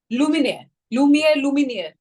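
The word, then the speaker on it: Lumière: लुमियर और लुमिनियर? Lumiere. It's a French name, so yeah.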